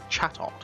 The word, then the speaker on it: Chatot: It's a Chatot.